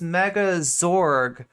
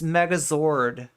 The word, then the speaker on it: Megazord: Did I just always think it was Megazorg when it's Megazord? I'm definitely bothering at least a some subsection of chat by pronouncing it Zorg instead of Zord.